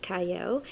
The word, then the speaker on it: Qiayel: and welcome to Prime TV I'm your host CYO it starts with a cube but it is pronounced CAO and I have a wonderful guest with me